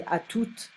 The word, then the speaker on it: à toute: Younger kids and adults may just say à toutes, and you will pronounce the T at the end of the word.